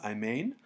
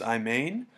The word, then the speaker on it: Imane: video analysis this is I believe you pronounce it I main so this is I main and we're going to